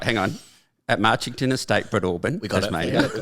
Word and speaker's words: Breadalbane: Breadalbane. Sorry, Breadalbane. Breadalbane. So it should not be pronounced like that, but it is. It shouldn't. We No, just it's- leave out a few letters. It reads Breadalbane.